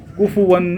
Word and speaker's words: کفواً: کفواً احد ہے, کفو کیا پرفے دونوں پہ پیش ہے, کف نہیں ہے.